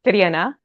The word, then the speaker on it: Triana: So my name is Triana, and yeah, it's got an awful rolling R and an E that isn't even in English.